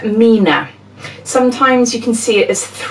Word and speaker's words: 3INA: If you've never seen this before, it's pronounced Mina.